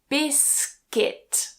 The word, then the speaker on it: biscuit: So I hear this pronounced as biscuit a lot, but remove that u. Biscuit. Biscuit.